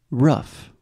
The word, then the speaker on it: rough: sound enough enough perfect we have a very similar word in terms of writing rough yeah oh my goodness